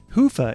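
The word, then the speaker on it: Hyvä: talk Commerce is sponsored by hia or as the Europeans say Hua or the right way to say it Hua is rapidly becoming the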